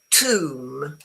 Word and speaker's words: tomb: Tomb. The B is totally silent.